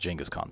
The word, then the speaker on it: Genghis Khan: From from people that from historians that I read and audiobooks I listen to, it's always pronounced Jenaskhong. So, that's how I'm going to say it. Um, Jenis Kong and the making of the modern world by Jack Weatherford.